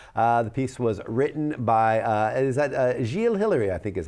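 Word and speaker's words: Gilles Hilary: The piece was written by, Gilles Hillary, I think is how he pronounces his name. Yep. Gilles Hillary.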